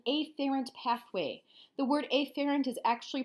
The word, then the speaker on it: afferent: what's called an eighth errand pathway the word a ferrant is actually pronounced after int usually but I always put an emphasis on